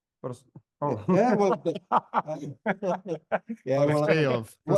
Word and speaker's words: Prostějov: Prostojov? Prostějov.